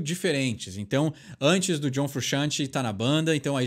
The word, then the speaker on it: Frusciante: a gente daquela encolhidinha não se fala todas as letras do nome do rapaz John frusciante Esse é o jeito de pronunciar o nome dele que que ele tá